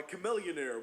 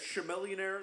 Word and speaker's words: Chamillionaire: songs like Raiden by Chamillionaire which I really want to say as sure millionaire that just looks at me pronounced to me but it's not sugar lien by young